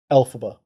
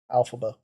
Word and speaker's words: Elphaba: Elphaba. Alphaba. Oh, it's A. Alphaba.